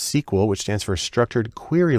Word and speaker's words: SQL: The most common language there is SQL, usually pronounced "Sequel," which stands for Structured Query Language, because that's where the data is.